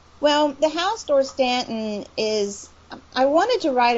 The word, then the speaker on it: Dorstanton: in the series about the whorehouse sorry house door Stanton did I get the day pronounce it Chris yeah alright yeah that's right door standin okay who's head dad Craven is a vampire